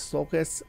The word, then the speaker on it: Sulcus: First, I've changed the way that I'm pronouncing this Sulcus because after reading the root words that they're saying, that the author here is saying, I'm going to go with a hard C on that because it looks like